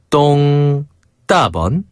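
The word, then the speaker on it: 东大门: 똥, 따먼.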